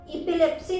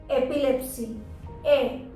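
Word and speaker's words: epilepsy: ई नहीं, एपिलेप्सी नहीं, एपिलेप्सी। ए बोलिएगा। एपिलेप्सी गलत प्रोनाउंसिएशन है।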